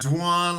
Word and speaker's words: Dwan: yeah my name is dwan um my mother always tells people you know pronunciation wise when you pronounce my name say dwan like swan one syllable so that grew with